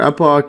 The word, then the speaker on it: epoch: And yeah, I just had to quickly just check Google pronunciation for epoch. I think they pronounce it epic, or epic, yeah.